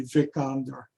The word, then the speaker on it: Vikander: is played by alicia vikander i think is how you say her last name and she's great man like or if you're prancing in germany would be vic under oh yes but uh german pronunciation again but yeah she uh